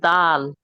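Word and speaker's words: دال: জোরে বলেন জোরে বলেন দাল দয়াল অক্ষরটা কি দাল মাশাল্লাহ ওকে এটা হলো দাল কি বললাম দাল কি বললাম দাল জিহ্বা লাগা সামনের উপরে দুই দাঁতের গোড়ায় লাগান লাগিয়ে শক্ত আওয়াজে উচ্চারণ করতে হবে একটু দাল তিন আলিফ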